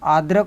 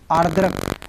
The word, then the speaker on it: आर्द्रक: अदरक का आद्रक होता है, ध्यान रखिएगा। ठीक है, आर्द्रक, ध्यान रखिएगा जिसके ऊपर दाल रा लगता है, जिस वर्ण के ऊपर रा लगता है उसके पहले उसका उच्चारण होता है।